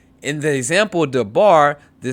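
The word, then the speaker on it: דבר: Once again, using the example dabar, the syllable bar is the tone or tonic syllable because it is the accented syllable. In the example sefer, the syllable se is the tonic syllable because it is the accented syllable.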